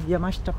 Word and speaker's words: Yamashita: you good morning everyone I am here in yamashta park am I saying it right yep perfect